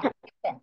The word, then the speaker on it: happen: এইচ এ তে পেন pronunciation হবে হ্যাঁ, হ্যাপেন।